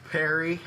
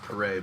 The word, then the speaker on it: Paré: we find you on social media Perry is what it looks like on Instagram last name is pronounced parade but Instagram and Facebook and all that they